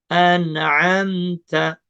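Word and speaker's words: أنعمت: An'amta. Nah, mim ketemu ta itu izhar syafawi. Jadi nggak boleh ditahan. Pendek juga bacanya. Seperti nun ketemu ain, izhar halqi.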